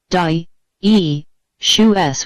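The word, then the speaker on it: dioecious: 3es are a unisexual or dous pronounced d e shoes which means having the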